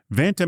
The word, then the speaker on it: Vanta: That's why Vanta, it rhymes with Santa, it's easy to remember, is here.